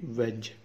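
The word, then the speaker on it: wedge: डब्ल्यू ई डी जी ई वेज, इसमें D silent और सिर्फ जे की साउंड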